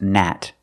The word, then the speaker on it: gnat: garden in this word this is pronounced Nat the g is silent because it's at the beginning of the word Nat this is a